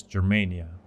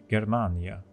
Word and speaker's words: Germania: So, first and foremost, what is Germania? Or, pronounced better, Germania.